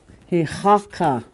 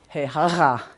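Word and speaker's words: heȟáka: Hihaka. That's what it is. I'm not saying it right. Just wait, give me a minute. Yeah, he haga. Where's Wayne with his phone? Just kidding. He haga. That's your elk.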